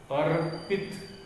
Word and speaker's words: अर्पित: तो दर्पण, अर्पित, अ के बाद में हमने र का उच्चारण किया, फिर पी का उच्चारण किया, फिर त का।